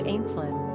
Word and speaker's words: Ashlynn: The name Ashlynn, pronounced Ash plus Ling, derives from the Gaelic word Ashling, which means dream or vision.